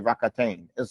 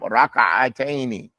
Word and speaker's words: ركعتين: The Americans say rakatain. It's raka'atain. Raka'atain. Not rakataini. Two rockets. Rakataini. It's not rakataini. I know you blast off with your khushu'ah, but it's not rockets. It's raka'a. Na'am. Raka'ataini.